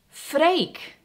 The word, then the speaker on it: Freek: So I'm driving around and I will see like house for sale, and then it has the name Freek, and it's spelled F-R-E-E-K, like a freak.